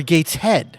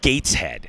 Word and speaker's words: Gateshead: How is that one pronounced? Is it Gateshead or Gateshead? I believe it's Gateshead.